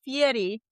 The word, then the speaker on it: Fieri: It's Fieri.